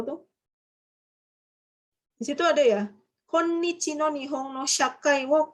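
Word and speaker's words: 今日: Bukan kyo ya itu bacanya ya. Saat ini ya. Perekonomian Jepang saat ini konnichi desu ne.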